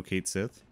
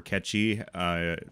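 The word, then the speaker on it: Cait Sith: No Kate Sith? or Ketchy, depending on how, or Ketchy, however you want to pronounce it. So that's more the Gaelic, Scottish Gaelic type of pronunciation, the Ketchy.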